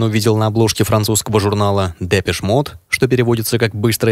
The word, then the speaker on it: Depeche Mode: еще более экзотичное музыканты сначала условились произносить indepth на французский манер с шай в конце по воспоминаниям друзей группы